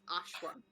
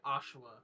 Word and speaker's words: Ashwa: No one can pronounce my name right. It's Ashwa. I literally can't say Ashua correctly. You just again. No, he didn't. There was the uh in there. My my I I just I pronounce it with an extra syllable.